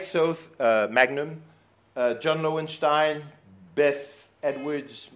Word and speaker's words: Soth: a series of links I like South but it rhymes with both as he says Alec Soth's Magnum John Lowenstein Beth